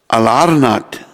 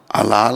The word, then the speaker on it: अलारनाथ: अलारनाथ, अलाल नहीं है, अलाल नहीं, अलारनाथ है।